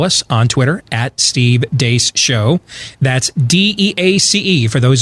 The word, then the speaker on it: Deace: Beck program, we're the crew from the Steve Deace Show, noon to 2 Eastern, right after Glenn Beck on Blaze TV, radio, and podcast. You can follow us on Twitter at Steve Deace Show.